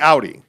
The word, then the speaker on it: Audi: do you pronounce it i would say like ow ow that hurt audi yeah that's how i